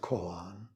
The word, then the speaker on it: koan: We use the Sino-Korean pronunciation, Kong-an. In English, it's more commonly pronounced koan.